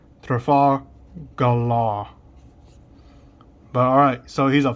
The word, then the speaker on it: Trafalgar: I always say Transfigure, but it's Trafalgar.